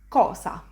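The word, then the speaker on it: cosa: example of this sound is in the word kosa which means thing as in one thing lastly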